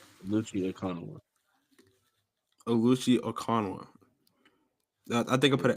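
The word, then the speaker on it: Okananwa: You said Okinawa, like Japan. O. It's OkanawA. Yeah, but one of those is silent. Okay, so that's like that middle one is silent.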